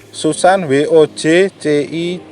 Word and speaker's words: Susan Wojcicki: Ini tulisannya gimana sih? Susan Wojcicki. Jadi bacanya gitu ya, CEO of YouTube.